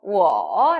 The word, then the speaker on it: 我: 몇 성인가요? 네, 3성이죠? 我 라고 읽어주시면 되겠습니다.